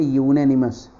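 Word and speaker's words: unanimous: अरे गाइस देखिए, जो ये यूनेनिमस जो वर्ड है, अगर इसका प्रोनाउंसिएशन देखेंगे ना, यूनेनिमस, तो ये से स्टार्ट होता है, फिर ये मात्रा लेता है, तो ये क्या है?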